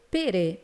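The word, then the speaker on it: פרא: Y en hebreo, ¿cómo se dice? Se dice pere.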